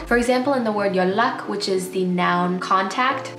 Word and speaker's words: 연락: contact in your phone, although it's spelled with a nian, when you pronounce it, the nian changes to a rir because you're trying to anticipate the next sound, which is a rir as well.